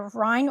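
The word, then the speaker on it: Rinne: Along with that, you're going to do a Weber and a Rhine or Rinna. Some people have heard it pronounced both ways.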